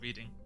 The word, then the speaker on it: Reading: Um, in England there's also a place near London called Reading and I used to live there, but it's spelled I E A D I N G. And a lot of Americans when they come there to go to the reading festival would say reading and call it reading